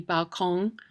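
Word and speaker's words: Ballon: balong which is uh which is a word from the French it doesn't look like there's a g on the end of that word but if you hear a German say it you'll hear that g for sure the best thing to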